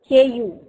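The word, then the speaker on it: coup: vote or election fine this is pronounced as CP KU this is how it is pronounced now what is cool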